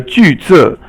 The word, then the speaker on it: 句子: 一个句子, 句子, 句子. 句 is fourth, and 字 is 轻声 or neutral tone.